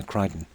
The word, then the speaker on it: Crichton: I'm saying it right. Yeah, Crichton. But it's spelled that way, is it? Yeah.